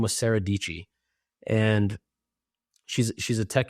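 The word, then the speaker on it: Dietschy: Her whole slogan was Sarah Dichi rhymes with peachy.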